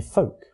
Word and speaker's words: folk: The L in folk and salmon and the P in receipt have been lost.